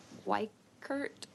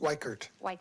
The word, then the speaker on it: Weikert: them um yes white Kurt I hope I said that right did I get your last how do you say your last name you did it is weikert Weichert tea neutral